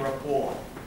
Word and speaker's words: rapport: Cara pengucapannya sebenarnya bukan raport kayak kita ngomongin raport anak sekolah itu. Ada building rapport.